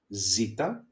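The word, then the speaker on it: ζήτα: Zita the sound that it makes is like the mosquito like okay more like a b I would say excuse me.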